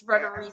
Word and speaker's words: Frederici: So yeah, it's not anything like it looks. It's not. It's Frederici.